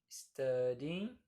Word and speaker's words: studying: I was studying. Não é studying. Não pronuncie esse G no final. Studying.